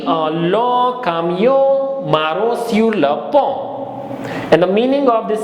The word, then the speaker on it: pont: S-U-R, R will be pronounced, so it becomes sur, la, P-O-N-T, T will not be pronounced, P-O-N will give pon sound, because O-N is O and P is po, so it becomes pon.